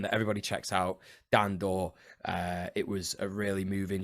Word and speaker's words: Daw: He's on Twitter as Dan Door Creative, I think. Wait, how's it spelled? How's the last Door? DAW. Daw? Yeah, literally like Dan Daw, like digital audio. But it's pronounced door.